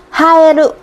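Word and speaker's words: 映える: Haeru. Trường hợp này thì nó sẽ đọc là ha rồi.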